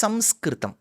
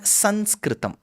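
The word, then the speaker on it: संस्कृतम्: both are right u rightfully it is samskritam okay it's not sanskritum it's samskrum that's how you write it but over a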